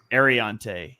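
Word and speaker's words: Aireontae: It's Arante Ersari. Did I say that right, Dibes? Ariante. Ariante. I couldn't find a pronunciation in every interview.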